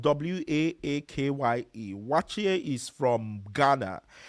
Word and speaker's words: waakye: Yes, we're running down on the time, but after egusi soup, I wanted to mention waakye. So, waakye is spelled w a a k y e.